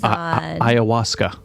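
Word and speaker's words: ayahuasca: talk about this next part where you andaz iasa yeah all right you said it right yep so um I did a 8 day spiritual treat with uh the plant medicine iasa and yeah I basically felt called to do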